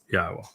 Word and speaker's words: Yahowah: All 4 letters are vowels. A yod, which is a Y, a hey, which is the H, the O, which is the wah, and the hey again.